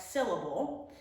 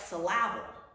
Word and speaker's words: syllable: It's the first syllable that we say a little bit louder, and we don't say syllable, we say syllable.